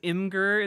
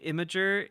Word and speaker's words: Imgur: Pronouncing it as Imgur instead of Imager is silly.